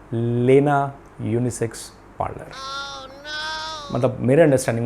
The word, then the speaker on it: LENA: Parlour, unisex parlour का नाम था लेना यूनिसेक्स पार्लर। मतलब मेरे अंडरस्टैंडिंग में LENA, लेना, डाउनटाउन में एक बहुत ही पॉपुलर पार्लर। लेकिन वहाँ के लोग उसको प्रोनाउंस कैसे करते हैं, लीना यूनिसेक्स पार्लर।